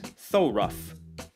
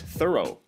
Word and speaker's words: thorough: that this word is pronounced rough they might pronounce this word as thoraf but it's thorough or thorough for people who already use these